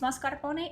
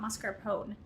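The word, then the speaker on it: mascarpone: I understand it's mascar pony. It's not mascar pone.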